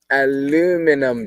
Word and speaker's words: aluminum: Aluminum down. Oh, so Sashi says it's the same as we pronounce it here, unlike Australia.